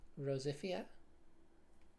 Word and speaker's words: Rosifia: interpretation, but I think I like the pronunciation Rosifia. It's basically Rose, which is my name, plus Fia, which is my character's name, my like persona, if you will.